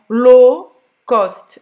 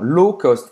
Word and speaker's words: low cost: Então, low cost, não vai pronunciar esse W. Non, low cost, un vol low cost, une compagnie low cost.